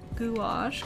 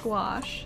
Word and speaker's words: gouache: what i'm talking about gouache gouache yeah just like wash wash yeah well i'm glad